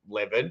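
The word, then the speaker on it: Levan: It really hurts my head to call him Levin. It just doesn't make sense, even though it is the right way to say his name.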